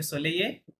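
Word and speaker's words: soleil: ইলফে ইলফে সোলেইয়ে। ইলফে কি বলবেন? সোলেইয়ে, ইলফে সোলেইয়ে রাইট। ইলফে সোলেইয়ে, হ্যাঁ? অথবা ইলফে অন সোলেইয়ে বললেও হবে, সমস্যা নাই। আহ, ইলফে সোলেইয়ে মানে আজকে ইটস সানি, হ্যাঁ?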